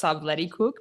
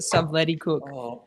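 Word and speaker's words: Stubblety-Cook: he actually said it he said it's actually pronounced subleticook but he said I don't actually care everyone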